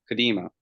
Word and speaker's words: Cudemo: Cudemo, how do you pronounce Cudemo. it? Cudemo.